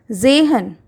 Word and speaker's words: Sehen: Sehen, to see.